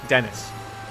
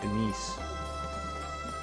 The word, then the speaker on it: Denise: that it was because I called you Dennis, and you said no, it's pronounced Denise.